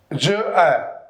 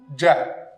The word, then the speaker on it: j'ai: Like, look, it's je, it's a, je, a. It sounds quite strange. So, we do ja. So, we don't use this one, we use this one. This is the correct form.